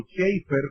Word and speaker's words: Chafer: De hecho, Lewis Sperry Chafer, o Schaeffer, como se debe pronunciar en inglés, que es uno de